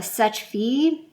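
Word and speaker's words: Seche Vite: And the reason why I'm okay decluttering this is I did finally pick up a Sech-Fi, and that's how you pronounce it, fast drying top coat.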